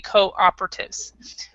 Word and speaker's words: cooperatives: the only difference is we actually don't stress the first part and then we have this W sound cooperatives Cooperative actually actually